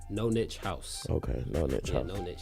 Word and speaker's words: No Niche House: the name how you how was it man pronounce the brand name you have the brand soda brand name is caught up no niche house no niche house what is known each house